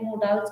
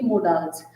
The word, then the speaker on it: modal: लेकिन गाइज़ आज मैंने मोडाल्स का टॉपिक उठाया है, जिसको मॉडल बोलते हैं वैसे तो। जो रियल इसकी प्रोनाउंसिएशन है वो मॉडल होती है, ना कि मोडाल्स।